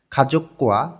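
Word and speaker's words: 가족과: যখন আবার গিয়ক আসে তখন দুইটাই কয় ক উচ্চারণ হবে খাজক্কোয়া পরিবার এবং ছিনগু বন্ধু খাজকুয়া ছিনগু পরিবার এবং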